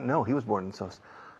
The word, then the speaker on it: Sos: Sos. Like the rice, con el arroz.